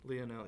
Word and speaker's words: Lionel: saying his name wrong you said Lionel Lionel I call him Lionel yeah that's how we would pronounce it but I want to respect him so Leah now Leonel yeah he um yeah I